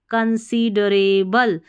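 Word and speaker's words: considerable: आई सी कंसी ड डी ई को डी नहीं पढ़ना ड कंसीड रे आर ए रे और बल बी एल ई बल कंसीडरेबल यानी कि काफी कंसीडरेबल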